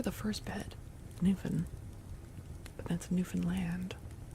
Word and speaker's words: Newfoundland: But apparently you're supposed to really pronounce the word land at the end. So you slur the first bed Newfan that's Newfanland, not Newfoundland.